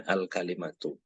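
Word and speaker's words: الكلمة: yang pertama adalah alkalimatu ingat ini bacanya alkalimatu n kemudi Apa itu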